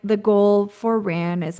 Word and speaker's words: RAAN: Is it just, how do you pronounce it? Is it RAN?